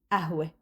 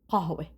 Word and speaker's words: قهوة: And one of these words that consists of qaf and is pronounced as f is qahwa. So you say ahwe.